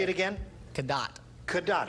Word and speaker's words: Cadott: tears the house up, and I'm from a small town in Wisconsin named Cadott, and that's halfway between the equator and North Pole. Say it again. Cadott.